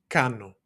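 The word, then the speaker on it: κάνω: And again, don't confuse this guy with a V, right? This is the Greek N sound.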